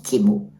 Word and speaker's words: Temu: Blue là, de Timo, c'est Timo en fait le nom. Hein, comme ça se prononce Timo. Nous on dit Temu, c'est bien.